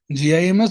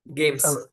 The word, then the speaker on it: GAIMS: First of all, congratulations to How do you pronounce this? GIMS or GEMS? GEMS. GEMS, yes.